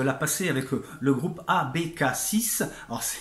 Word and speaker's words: ABK6: passer avec le groupe abécassis ans et ça s'écrit à becca avec le chiffre 6 mais c'est aussi l'abréviation